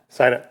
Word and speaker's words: Sina: Sina, did I say it right? Sina. Thank you for the correction.